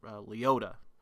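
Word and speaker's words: Liotta: got Ray leata or they say it Leo y in the trailer I say leata because I I'll determine how I pronounce these Italians names you got a lot of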